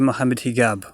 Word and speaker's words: Mohamed Higgab: They sometimes pronounce the J as G, and so it's actually Mohamed Higgab. We set up this organization, not just me, myself, and Mohamed Higgab.